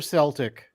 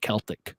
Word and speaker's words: Celtic: Are they Celtic or Celtic? So in the Scottish pronunciation is Celtic, but Celtic is Irish because the team was founded in Ireland.